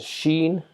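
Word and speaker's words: شين: Equivalent to letter SH is Sheen.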